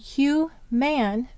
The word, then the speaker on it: human: But what do we usually say? Human. Now, in English, this is a place where we can begin to use morphology because the accented syllables hu, and this is actually a schwa sound, which we'll discuss later,